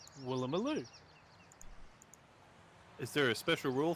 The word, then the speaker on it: Woolloomooloo: The double O's can be pronounced as an O sound, as in Waranoran, or an U sound, as in Woolloomooloo.